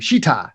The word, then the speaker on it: Sheetar: Sheetar.